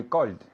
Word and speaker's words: called: every day I call yesterday I called very good with a D sound repeat again yesterday I